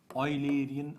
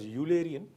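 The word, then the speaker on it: Eulerian: legrangian approach the second approach is known as oian approach some people pronounce it as ulian but oian is the exact pronunciation let us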